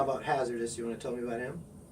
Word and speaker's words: HAZRDOS: It is spelled HAZRDOS, Hazardous.